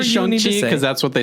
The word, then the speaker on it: Shang-Chi: Shang-Chi is the latest. It's actually pronounced Shang-Chi. Shang. It's Shang-Chi.